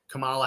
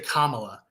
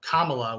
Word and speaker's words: Kamala: This might be why Kamala Harris, and I keep, apparently you're not supposed to say Kamala, even though Kamala would be how you would pronounce it for her Indian heritage. She likes Kamala.